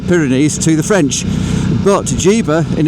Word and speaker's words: Llívia: Ja. It's a It's a really weird pronunciation, but we go to this place called Ja, which is a Spanish exclave.